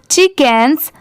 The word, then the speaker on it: chickens: ठीक है, और यहाँ पर जो लेटर C है ये साइलेंट है।